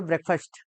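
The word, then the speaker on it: breakfast: हाँ, ये फास्ट वैसे FAST फास्ट को पढ़ा जाता है, लेकिन जब किसी शब्द के पीछे जुड़ जाए तो इसका उच्चारण फर्स्ट हो जाता है। तो इसको कहा करो ब्रेकफास्ट। शॉर्ट में कहोगे ब्रेकी।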